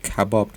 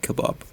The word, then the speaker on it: kebab: Kebab or Kebab but since I'm native we actually pronounce that Kabob not Kebab with something that English